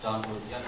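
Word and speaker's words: Jean Baudrillard: Ini saya mengambil dari teorinya Baudrillard, kalau tulisannya kalau kita bacanya John Baudrillard.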